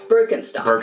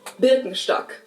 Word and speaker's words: Birkenstock: the world nowadays, and it's natural that people pronounce it with their native accent. So English speakers usually say Birkenstock. In German, we say Birkenstock.